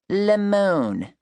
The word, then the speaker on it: Lamone: My name is Lamone, pronounced Lemon, like you would if you were in France, not like the sour yellow fruit.